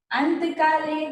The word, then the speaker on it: अन्तकाले: हो ठीक है और सुनना है साथ में अंतकाले चमामेवा स्मरण मुक्तवा कलेवरम यह प्रयाति सम भावम याति नासत्र संशय।